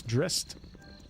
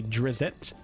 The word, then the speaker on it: Drizzt: if none are better how do you pronounce dressed that's how I pronounce it when I was reading the books though I'd always say Drizzt and it took me a long time to get out of that pronunciation but once you start